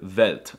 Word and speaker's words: Welt: For some reason, they pronounce the W's with a V sound, like in the word Welt, and they pronounce the V's with an F sound, like in the word Vermögenzuordnungszuständigkeitsübertragungsverordnung.